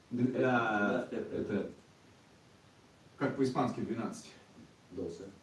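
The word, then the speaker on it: doce: Досе. Досе.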